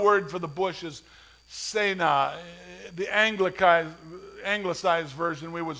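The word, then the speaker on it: סְנֶה: Incredibly, he walks up to this bush, and the Hebrew word for the bush is Sena. The Anglicized version, we would spell it S-E-N-E-H in English.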